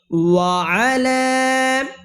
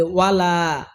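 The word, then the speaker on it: وَعَلَى: ভালো হয় আপনার ইচ্ছা ওলা ওলা এখানে আমরা অনেকেই বলি ওয়ালা ওয়ালা এইযে আইনটা আমরা বাদ দেই কিন্তু বাদ দেওয়া যাবে না ওলা এইযে এখানে তিন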